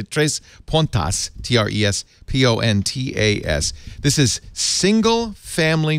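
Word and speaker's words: Três Pontas: the other day, and they said you pronounce it Tres Pontas, from Tres Pontas. But if I say that, you won't know how to spell it. So I'm going to say Tres Pontas, Trespontas.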